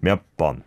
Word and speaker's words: 몇 번: I think it's because of the 몇 sound, right? Yep. Right. Pronouncing the ya there, mm-hmm. but then it needs to go to an a sound, 몇 번.